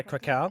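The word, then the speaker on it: Kraków: Like for me, when I saw, I think, the Polish F45 in Krakow, I think, is it how do you say Oh it? yeah, Krakow. Krakow, Yep.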